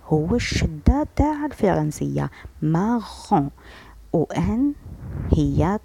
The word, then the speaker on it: marron: عنا marron marron. هنا نتكاو على R. علاش؟ لأنه مكرر مرتين كأنها الشدة في العربية. الشدة في العربية واش نديرو؟ مثلا معلم معلم. هنا نتكاو على اللام لكن في الفرنسية نكرر الحرف مرتين.